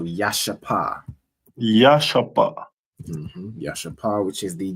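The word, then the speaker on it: ישפה: And their stone is a jasper, which is pronounced in the Hebrew as Yashapa. So Yashapa.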